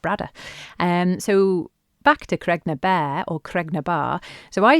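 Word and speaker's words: Baa: But bear is the traditional way of pronouncing it. So when I speak monks, um, I would always say bear.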